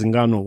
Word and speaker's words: Ngannou: How do you pronounce that? Ngannou. Is that correct? Yeah. Ngannou.